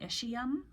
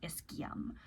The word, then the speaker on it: ischium: Here in America, we call this the ischium. So this would be like the ischial tuberosity, the ischial bone of the pelvis. But in Europe and many other places, they will pronounce it ischium.